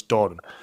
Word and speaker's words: Doran: with yourselves Jamie Doran Doran Duran Doran no it's dor is this is is this you pronouncing it wrong again no this is us pronouncing it right he's West cuman therefore it's Doran but yeah so so